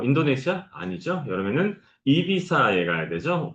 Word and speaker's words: Ibiza: 여름에는 이비사에 가야 되죠. 보통 한국에는 EB자라고 알려져 있지만 스페인어에서 Z G는 S하고 같은 발음이 납니다. 실질적으로. 그래서 2B라고 하는게 맞고 그다음에 사실은 한국에서는 자라